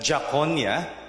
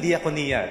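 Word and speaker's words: διακονία: See, you don't pronounce it that Jaconia. Gagalit yung mga Greeks kapag narinig na yan. But you say diakonia. Yeah. Ano yung diakonia?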